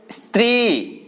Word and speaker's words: स्त्री: और उदाहरण स्त्री, तो यहां भी हम ई की ध्वनि आ रही है।